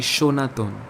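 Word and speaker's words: সনাতন: the word sir but the pronunciation of the word happens to be shonathon sanatan atan linguists suggest that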